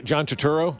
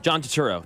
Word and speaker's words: Turturro: Yeah, John Turturro. John Turturro.